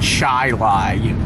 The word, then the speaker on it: Chili: So, I know it's pronounced chai-lai. Train your chili while going over the speed humps. eating chai-lai while going over the speed humps.